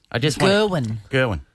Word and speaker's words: Gerwyn: Gerwyn. Mm-hmm. It's spelled as you would expect, but mm-hmm.